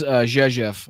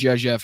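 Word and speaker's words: Rzeszów: So here's Jezef. I know it doesn't sound like it's it's pronounced like that, but that is how it's pronounced.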